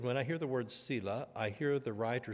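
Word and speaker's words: Selah: lovely little word and different people pronounce it different I pronounce it Sila um no one knows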